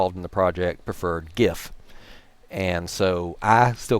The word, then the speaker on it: GIF: by Ste Steve willhite to remind people it's pronounced GIF like the peanut butter so like I said